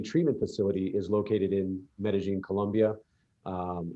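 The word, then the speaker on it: Medellín: facility is located in medellin colombia um i pronounce it that way because that's the way they the locals say it but most people would know it as medellin colombia which is a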